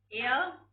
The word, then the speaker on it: heir: Ear, what is the ear? Children, I'm not talking about hair. I'm talking about ear. Ear. H is silent. H-E-I-R.